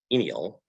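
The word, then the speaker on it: G-ænial: use a product dc it's pronounced inial uh g-c-a-e-n-i-a-l and it's very strong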